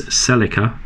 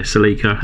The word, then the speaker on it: Celica: um toyota celica or in the us i think you pronounce this celica um to a celica but yeah seleka here in the uk um and that is